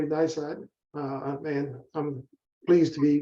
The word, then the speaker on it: NISOD: You did pronounce it correctly, NISOD.